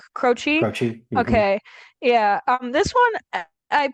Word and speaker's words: Croce: I don't know how to pronounce his name, last name. Like, I think it's Cro Croce, Croce? Croce.